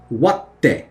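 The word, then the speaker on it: 割って: When you see small tsu, it means the sound after it gets hit and then pronounced. So, watte in this case. Waru, the ru is going to change to te. So, watte. You hit it, hold, and go.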